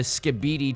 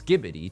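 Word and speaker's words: Skibidi: that I know it's skibbidy toilet I know it's skibbidy like the Fairy Godmother in um Cinderella right bibid bbid bop or whatever I know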